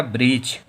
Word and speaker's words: breach: इसके बाद में फिर है BREACH। फिर ई जो है वो ए के बाद में आ रहा है, तो फिर हम लोगों का ए साइलेंट है, पढ़ेंगे क्या? ब्रीच।